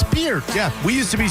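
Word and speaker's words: Peart: You guys, but how do you not know how to say Neil Perz? Pier, idiot. It's Pier, you freaking [ __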